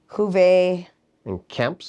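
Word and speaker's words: Juvé & Camps: Oh wait, why am I reading it as French? French. Yeah, Spanish. Juvé and Camps.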